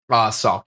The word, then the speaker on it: Sauk: How do you pronounce that? Sauk War? Sauk, yeah.